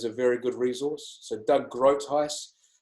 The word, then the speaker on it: Groothuis: So Doug Groothuis, Doug Groothuis is spelled in a way that doesn't sound like it says GROOTHUIS.